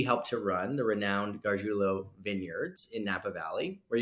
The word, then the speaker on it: Gargiulo: Today we have one of the most focused entrepreneurs I have ever met, April Gargiulo.